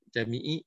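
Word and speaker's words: Camii: Jami'i sebenarnya bacanya.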